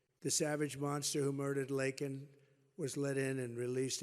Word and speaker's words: Laken: brilliant 22-year-old nursing student, Laken Riley. You know Laken very well now. And after months of prodding him, Biden couldn't pronounce her name. He said Lincoln Riley, and Lincoln Riley is the football coach, or the coach.